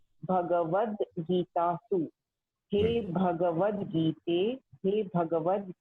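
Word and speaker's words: भगवद्गीता: Yeah, it is Bhagavad Gita, not Bhagavad. Not Bhagavad. Yes. Bhagavad Gita.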